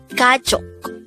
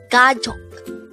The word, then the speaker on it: 가족: word number 134 gaj gaj this is pronounced as a two syllable word the first syllable is